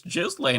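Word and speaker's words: Ghislaine: Um, anyways, so they're trying I'll be honest, I'm pretty sure her name is like Gilain or something without the J. Pretty sure there's literally an S in there. It's just it's Jizlane. I mean, it's a weird name, but that's her name.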